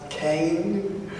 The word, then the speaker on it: Kean: And my university would kill me if I didn't say it's pronounced KEAN.